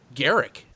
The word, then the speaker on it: Garrick: the one and only Garrick I mean and yet I said it right it's not guru so there we go